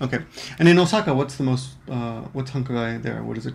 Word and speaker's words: 繁華街: The first vocabulary word was hankagai. Yukari? Hankagai. And that's basically downtown, bustling street. It could also be a bustling street, just downtown, a busy area, right? Mm-hmm. Okay. And in Osaka, what's hankagai there?